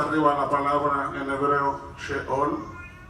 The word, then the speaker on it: Sheol: Allá está arriba la palabra en hebreo Sheol. Así se escribe y así se pronuncia. Abajo puse la pronunciación Sheol.